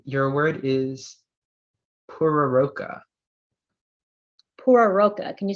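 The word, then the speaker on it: pororoca: Maybe, are there alternate pronunciations? Yes, there is one. Puraroka, Puraroka.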